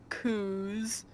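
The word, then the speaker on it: coups: one of Isabelle's personal coos ooh there's a P in that word but I'm fairly sure I'm not supposed to pronounce it one of Isabelle's personal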